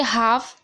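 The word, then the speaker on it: half: है L silent है दूसरे में देखिए हाफ एफ से पहले एल है तो एल साइलेंट है तीसरे में देखिए के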